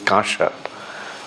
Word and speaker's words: kamsa: the metal known as kamsa uh Bell metal is not uh anyway the pronunciation actually is kasha is turned into gold